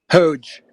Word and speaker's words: HOGE: Sam, while we're waiting for people to get in, what's the proper pronunciation? HOGE. You had HOGE, it right the right? first time.